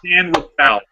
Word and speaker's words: San Rafael: It is pronounced San Rafael. It's really weird.